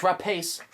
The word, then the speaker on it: Rapace: I think it's pronounced Noomi. Noomi Rapace. It's Rapace.